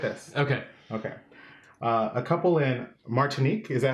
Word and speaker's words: Martinique: A couple in Martinique. Is that how you say it? Martinique.